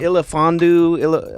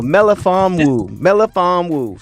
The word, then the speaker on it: Melifonwu: The thing is about him, it's let me look at his name so I can pronounce it again. I want to say Ilafondu. I forget now. Yeah. Oh, Melifonwu.